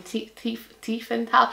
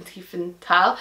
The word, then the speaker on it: Tiefenthal: So that's the Tavern in Tiefenthal. I keep wanting to pronounce it like there's a H there. There isn't.